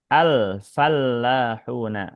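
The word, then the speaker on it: الفلاحون: Al maksudnya lamnya ditampakkan pengucapannya al. Kemudian lam yang ini ditasydidkan. Karena kalau enggak ditasdid, alfalahuna itu artinya beda nanti. Fallahun dengan ditasdid seperti ini artinya para petani, para petani pakai tasdid lamnya.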